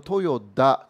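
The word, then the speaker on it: 豊田: 그리고 토요타의 사장의 이름은 토요다입니다. 예. 이게 토요타하고 토요다 조금 발음이 다른데요.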